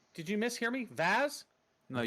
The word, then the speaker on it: Vaz: that guy doing then v-a-z I'm sorry I missed I'm mispronounced it Vaz with a V it is not the